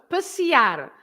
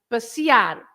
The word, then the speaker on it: passear: here it's the last one because you have the R at the end. So the word, any word with an R at the end, you stress the end. Like passear.